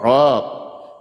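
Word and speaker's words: رب: Berarti bacanya roh. Rab. Rabb.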